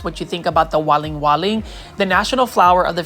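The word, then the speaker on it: Waling Waling: should look for is what they call the Walling Walling so I'll spell it for you w a l i n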